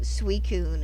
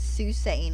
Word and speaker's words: Suicune: Because I can remember with Gen 2, everyone saying Suicune as Susain at first because we were sounding it out. And then the Pokerap for Gen 2 came along and it's like, oh, well, this is how you pronounce it.